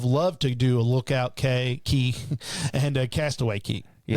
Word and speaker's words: Cay: I think it's Key is how it's pronounced. Oh, really? Yeah. Castaway Key. I thought it was K because C-A-Y. I know. I figured Key was K-E-Y. I understand. I get it. I just think it's pronounced Key.